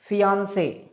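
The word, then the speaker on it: fiancé: मतलब दोनों का प्रोनाउंसिएशन सेम है, प्रोनाउंसिएशन में कोई अंतर नहीं है। ये क्या है, फियांसे, और ये भी क्या है, फियांसे, है ना। फियांसे ये है और फियांसे ये है। क्लियर, दोनों का प्रोनाउंसिएशन सेम है। There is no difference between the pronunciation of these two, है ना। प्रोनाउंसिएशन दोनों का ही सेम है, लेकिन एक मैन है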